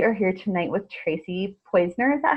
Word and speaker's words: Poizner: We are here tonight with Tracy Poizner.